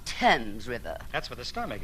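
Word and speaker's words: Thames: probably end it all by leaping into the fames River oh Mr Marx it's pronounced TS River that's what the stomach isn't I shall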